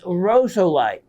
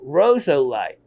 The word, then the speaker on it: rosolite: you're seeing it is known as rosolite rosolite not rosalite that's a different mineral rosso light it is really to